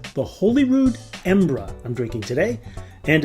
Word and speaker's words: Embra: And in case you're curious, the name of the bottling Embra is derived from a way the locals often pronounce the name of their city.